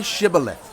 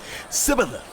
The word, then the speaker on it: Shibboleth: If he replied, "No," they said, "All right, say Shibboleth." If he said, Sibboleth, because he could not pronounce the word correctly, they seized him and killed him at the fords of the Jordan.